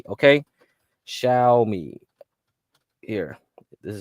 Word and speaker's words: Xiaomi: watch list is x i a c y xiaomi xiaomi okay shiai here this is how you spell it x i a o m i they